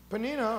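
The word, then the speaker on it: Peninnah: the other was P panina panina or panina was whatever way you want to pronounce that had children but Hannah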